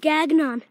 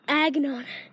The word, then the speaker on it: Gagnon: No, it's cage gagnon. I said cage agnon. It's cage. I think you will spell that. And then gag. And N-O-N.